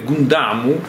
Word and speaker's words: Gundam: No, ma il fatto è che i Gundam o Gundam sono sbagliate entrambe, perché se vogliamo sarebbe Gundamu, ho detto Gundamu alla giapponese.